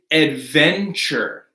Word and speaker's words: adventure: This is adventure. Adventure. Because our stressed syllable here is the right?